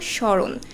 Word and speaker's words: স্মরণ: বের করব কিভাবে যেমন প্রথম শব্দটা দেখো স্মরণ স্মরণে ম ফলার কোন উচ্চারণ হচ্ছে না কেন হচ্ছে না ম ফলাটা কোথায় বসেছে ম ফলা বসেছে শব্দের প্রথমে তো এটাই আমাদের প্রথম নিয়ম যে শব্দের প্রথমে যদি ম ফলা বসে তাহলে সেই ম ফলার উচ্চারণ হবে না তো এরকম আরো কিছু